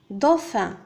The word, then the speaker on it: dauphin: هنا A U ينطق O dauphin.